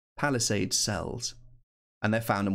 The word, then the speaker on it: palisade: are they called but palisade sells that's pronounced like someone who helps people out where the Queen lives a palace aid palisade sells and they're found